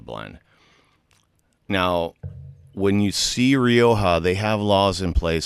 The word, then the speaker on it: Rioja: So this particular So Rioja? Rioja. Rioja. Gotta roll your Rioja. R. Rioja. Rioja.